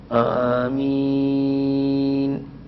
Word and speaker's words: ആമീൻ: അവിടെ ആമീൻ എന്നാണ് ഉച്ചരിക്കേണ്ടത്.